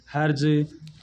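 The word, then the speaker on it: Hertz: एक एसी की आवृत्ति होती है, जो इकाई होती है आवृत्ति, उसकी इकाई क्या होती है, हर्ज। इसमें टा होता है वो साइलेंट होता है, HZ से लिखा जाता है।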